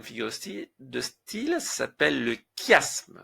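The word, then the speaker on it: chiasme: 3è la trè figure de style s'appelle le kiasme. Ça s'écrit ch mais ça se prononce. Le cashme.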